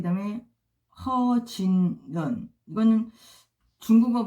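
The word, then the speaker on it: 何俊仁: 리즈잉, 그 다음에 천방 안성, 그 다음에 리즈밍, 그 다음에 허진런. 이거는 중국어 발음이고요.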